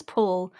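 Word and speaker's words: Palu: bothering me so much they always pronounced him as paul but his spelling is p-a-l-u maybe that's he's he's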